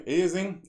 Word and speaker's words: aliasing: Okay, aliasing, alien, it's pronounced like alien, or almost like alien, and it has something to do with aliens.